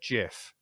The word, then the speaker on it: GIF: it was stephen himself the creator who said it's a soft g it's a gif and he said it